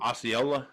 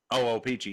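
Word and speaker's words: Ochopee: I can't even pronounce it. Osceola, if I remember. Opeechee. Opeechee.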